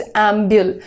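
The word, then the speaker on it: ambul: To talk अबाउट इज़ एंब्यूल। नाउ एम्बियल मैं इसलिए बोल रही हूं क्योंकि सारे जो यहां पर वर्ड्स है ना इसमें इसका प्रोनन्सिएशन एंब्यूल ही रहेगा। एंब्युल भी आप बोलना चाहिए।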